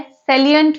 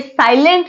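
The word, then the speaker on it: salient: की, और ये है सैलिएंट फीचर ऑफ कॉन्स्टिट्यूशंस। आप ध्यान रखिएगा, ये साइलेंट फीचर्स नहीं है, ये सैलिएंट फीचर है, इसको सैलिएंट बोला जाता है।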